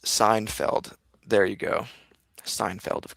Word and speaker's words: Seinfeld: Joanna says, it's pronounced Seinfeld.